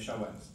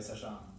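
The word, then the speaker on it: SHA-1: Les chawans. On dit les chats. D'accord? Ça se prononce chawan, pas SHA.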